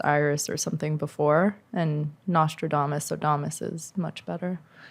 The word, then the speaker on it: Nostradamus: it exactly Damas or domus domus astrodamus Nostradamus Nostradamus thank you Thomas yeah and that's been a lot better I use like um it was Iris or something before and Nostradamus so Thomas is much better a lot of